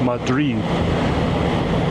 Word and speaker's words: Madrid: But that little town is known to be Madrid. Like you're saying Mad Rid Madrid, which is uh I don't know. People like my mom would say that's not how you say it. That's how the Texans say it. So I tend to go with what the locals call it, Madrid.